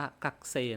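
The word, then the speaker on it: 学生: กักเส กักเซ นะ ครับ เขียน ว่า กะุเซ ก็ จริง แต่ บาง ที คน ญี่ปุ่น เขา ก็ จะ อ่าน ว่า กักเซ นะ ครับ ทุก คน กักเซ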